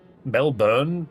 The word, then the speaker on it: Melbourne: When we spell things that way, it's pronounced burn. Born, sorry, not burn. Melbourne just sounds like a dialect thing to me.